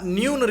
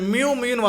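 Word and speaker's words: ν: இது எப்படி ரீட் பண்ணணும்னா நியூன்னு ரீட் பண்ணணும். இன்னும் பல அறிவியல் மாணவர்களும் சரி புது மாணவனும் சரி இதை மியூன்னு வாசிக்கிறீங்க. மியூ வேறு, இது என்னென்னா நியூன்னு வாசிக்கணும். அதை நான் ப்ராக்கெட்டில் கொடுத்துருக்கேன், எப்படி உச்சரிக்கணும்னு கொடுத்துருக்கேன். லைட்டாக வி அப்படி சாய்ச்ச மாதிரி இருக்கும்.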